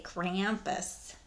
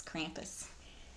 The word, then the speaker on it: Krampus: Love how Americans say Krampus. It's Krampus.